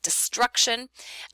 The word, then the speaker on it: destruction: A word like destruction, even though the T is near the beginning of the stressed syllable, it's not the very beginning.